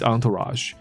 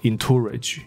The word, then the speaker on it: entourage: 那时候 Iverson 呢是跟他的 entourage 在一起，所以这个字的发音。不是什么 entourage，因为它长得很像 encourage，有没有？就鼓励那个字，可是不是，它不是什么 entourage，它的发音是 entourage， entourage。那它的意思呢，就是你身边常常在你身边一起混来混去的一些人。那甚至我们可以把它翻译成随扈或之类的，叫做 entourage。有那种很重要的人，有没有？走到哪里身边都是一堆人，有没有？我们就说那样的，像我们说打拳击的那一个 Floyd Mayweather，那或者是。一时也想不起来谁其他人，但总之很多一些大牌明星啊，哦，请一些保镖在身边或这些的 entourage。OK，所以他当时还在打球，那他有他的 entourage 在身边，所以那个人当然就吓到了，干我要一次跟这么多人干架哦，right？